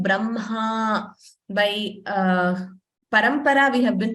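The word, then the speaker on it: ब्रह्म: Okay, so again, this letter, we pronounce it as Mha. First M and then Ha. We don't say Hma. Ha is not pronounced first. So we don't say Brahma.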